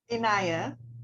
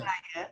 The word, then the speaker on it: Inaya: Could you pronounce that name for me? Inaya. Ashara Inaya. Inaya.